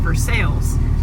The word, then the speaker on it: Versailles: up with something broken I had mentioned when we got here that I wasn't sure how to pronounce it and after calling the office trying to change our sites all of the answering machines and whatnot said for sales so that's how that's how I'm going to say it uh that's